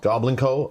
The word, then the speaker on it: Goblinko: of doom uh by go blanco or goblin co i've heard it pronounced multiple ways i don't know who the publisher is what's uh they the publisher pronounces it goblin go goblin co oh okay yeah then